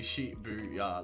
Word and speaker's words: Shibuya: Shibuya. Although, I know it's like, it should be Shibuya, like the same length syllables, shouldn't it?